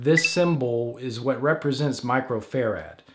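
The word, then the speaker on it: µF: tool in the oven please never say UF when referring to microfarad again it's triggering if hearing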